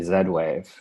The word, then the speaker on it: Z-Wave: of uh hamish's words I thought it was going to be Zed wve because I thought that was pretty awesome it is the proper way to pronounce it I just oh yeah yeah it's new to me I like it a lot it's a zed it's not a z so so sorry I